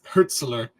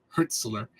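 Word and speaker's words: Hürzeler: for Fabian herler Herz herzler that's how you pronounce it herzler what did he even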